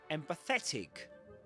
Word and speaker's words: empathetic: But you can be empathetic. And this one is double stressed.